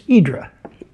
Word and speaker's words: Hydra: the Greek island of Hydra did I say that right in English that's Hydra in Greek it's idra idra okay so we're GNA say it right idra the island of idra